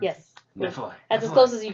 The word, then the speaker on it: Nephilim: Or is that how you pronounce Yes. it? Nephilim.